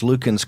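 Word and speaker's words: Luckin: the Starbucks of China I think it's pronounced Lukens coffee that was going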